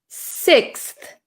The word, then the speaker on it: sixth: I pronounce this word we pronounce this word sixth sixth sixth sixth okay so this is quite a difficult word we have an X